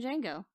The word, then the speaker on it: Django: Like in Django. The D Django. is silent.